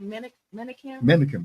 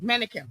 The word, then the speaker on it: Menakem: How do you pronounce it? Menakem. Menakem.